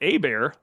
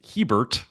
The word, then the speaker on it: Hebert: miss it a lot is it a bear like Bobby or Hebert like someone sloppily identifying their friend Bert I I I was told it's Hebert right it is Hebert